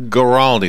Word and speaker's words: Guaraldi: And finally, Vince Guaraldi.